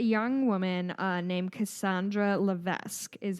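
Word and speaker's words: Cassandra Levesque: there was a young woman uh named Cassandra lavesque is how I'm going to say her name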